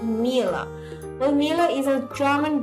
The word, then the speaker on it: Miele: basics of this dishwasher it pronounced Mila well Mila is a